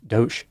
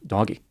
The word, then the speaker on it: DOGE: Department of government efficiency it's pronounced do instead of doggy this is a missed opportunity doggy is a much better name either way Trump designated